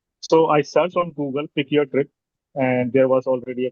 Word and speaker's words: Pyck Your Tryp: People do pronounce like pack your trip, No, or I was just kidding.